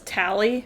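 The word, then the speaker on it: Tali: I do love that Jen Hale pronounces it as Tally.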